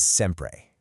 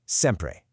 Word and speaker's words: sempre: The word is sempre, which translates straight to always. Take a look at the phonetic pronunciation there, sempre.